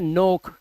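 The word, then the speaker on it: knock: तो इसको बोलते हैं नोक। क्या बोलते हैं? नोक। यहां पर देखो लिखा हुआ है ना नोकिंग नोक। तो एन से पहले आया के साइलेंट है।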